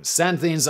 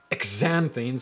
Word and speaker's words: xanthines: Xanthines are, among other things, I'm going to check the pronunciation on xanthines, because it's got an X at the beginning, which is always a bit weird. X-A-N-thines. Xanthines. Come on. Tell me. Xanthines. Xanthines.